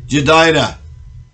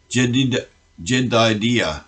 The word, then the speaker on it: Jedidiah: And he sent by the hand of Nathan the prophet, and called his name Jedidah, because of the Lord. Jedidiah is better pronunciation.